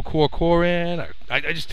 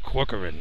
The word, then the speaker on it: Corcoran: funny to you because I always screw up his last name it's it's easy to pronounce and I just say see I know I'd go core core in just doesn't flow up my tongue very well Corcoran I mean it's so easy to say all right go ahead